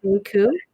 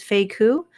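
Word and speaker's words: Faye Ku: My name is Faye Koo. Yep, my name is Faye Koo. That's Faye. Last name is spelled Ku.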